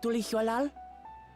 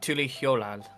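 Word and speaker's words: Tuliyollal: It's like Tuli Hol. Yeah, you got to like put an H before the Y.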